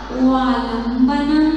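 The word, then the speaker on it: वालम्बनम्: एक भक्तांबर प्रणत मौली मणि प्रभाणा मुद्योतकम दलित पाप तमोवितानम सम्यक प्रणम्य जिनपाद युगम युगादा वालंबनम, बालम नहीं, वालंबनम, वालंबनम। बालम बोलोगे तो मुख बंद होगा, वालम बोलोगे तो खुलेगा।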